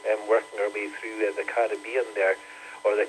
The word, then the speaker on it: Caribbean: Looking at the Hurricane Beryl, working our way through the Caribbean there, or the Caribbean as some people pronounce it.